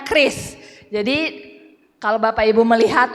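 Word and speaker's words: QRIS: response code Indonesian standar tulisannya q r i s dibacanya Kris jadi kalau bapak ibu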